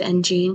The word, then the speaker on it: engine: No one's corrected me, and I've always said engine because it's like gene, like the name gene, or genes as in genes as like genetics, or like even pronounced like gene, like pants.